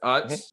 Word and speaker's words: Utz: But we all say Utz as the pretzel brand, right? It's Utz. It's clearly us. Clearly Utz. There's no other What do they call it? pronunciation. I don't even know. Utes? The two Utz. Utes? Utz. Who says that?